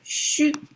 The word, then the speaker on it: 戌: It's shu. It's mapped to September, mapped to um the dark zodiac sign and is pronounced as shu.